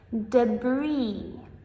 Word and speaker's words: debris: debris debris This This is tricky because we have the silent S at the end. So, many people make the mistake of pronunciating that S, saying like debris. However, this is incorrect. We just say debris.